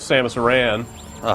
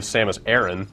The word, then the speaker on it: Samus Aran: We're kicking it with Samus Aran, Or, as Metroid Other M would have you believe, Samus Aran.